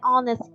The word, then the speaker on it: honest: ชั่วโมง หนึ หรือ an honest Girl เด็ก หญิง ผู้ ซื่อ สัตย์ 1 คน ซึ่ง ตัว H ใน ที่ นี้ นะ คะ จะ ไม่ ได้ ออก เสียง ฮะ แต่ จะ ออก เสียง เป็น อะ ค่ะ ซึ่ง เป็น เสียง สระ